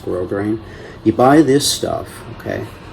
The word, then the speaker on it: grosgrain: But yeah, you get grosgrain ribbon, G-R-O-S-S, grosgrain, it's pronounced grosgrain.